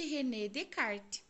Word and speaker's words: René Descartes: desse filósofo nós escrevermos reescrevemos René Descartes porém pronuncia-se Renê de kart Ok então vamos lá o relógio é um